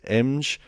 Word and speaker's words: Emge: We are going to talk now about Stephen, who I think his second name is pronounced Emge.